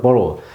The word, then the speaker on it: borough: Across the borough. 자, borough란 말은 자치구란 말입니다. 자치구. 뉴욕이 5개 자치구가 있죠. 맨해튼, 브루클린, 퀸스, 브롱크스, 스태튼 아일랜드. 이렇게 5개 지역의 자치구를 borough라고 합니다. borough. 그래서 이 borough, GH가 묵음해요.